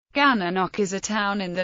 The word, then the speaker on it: Gananoque: The town's name rhymes with the place name Cataraqui, which appears in the Cataraqui River, the Little Cataraqui Creek, and the Cataraqui Cemetery in nearby Kingston, Ontario. One way to remember its pronunciation is the right way, the wrong way, and the Gananoque.